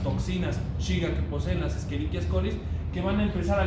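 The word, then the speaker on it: Escherichia: la esqueria Cole que si le dice eicha quiere decir que el su docente no sabe latín porque la ch se pronuncia la esqueriquia coli Flora microbiana normal humana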